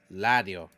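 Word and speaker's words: 라디오: So, that is radio. It would be pronounced la. Radio, ladio.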